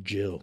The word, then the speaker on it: Jill: Jill. It's Jill. Nice to meet you. It rhymes with Hill.